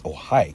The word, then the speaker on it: Ojai: again thank you to whoever pointed out that I was saying it wrong there and corrected it's Ojai California Chile the only one